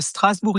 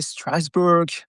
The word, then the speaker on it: Strasbourg: So we say Strasbour in French and in English I think you say Strasburg um with the pronunciation.